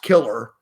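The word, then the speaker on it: Kilar: killar is his name it's like pronounced killer but his name is killars how you spell it k-i-l-a-r and his name's bob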